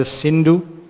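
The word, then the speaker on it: Sindhu: So when they came to the river that made the border called the Cindu, they could not pronounce Cindu, they should say Hindu.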